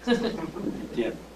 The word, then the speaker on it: Etienne: Mispronounce it? Etienne? Yes. E-T-G-E-N. Etienne.